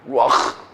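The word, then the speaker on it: רוּחַ: 발음하기도. 루아흐.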